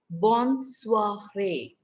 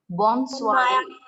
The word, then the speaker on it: bonsoir: The next one goes bonsoiré. Bonsoiré. Ma'am, what? Bonsoiré. Ma'am, can you please spell it again?